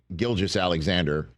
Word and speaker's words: Gilgeous-Alexander: And Shai Gilgeous-Alexander wrapped up one of the great individual seasons in NBA history. Hard G, soft G.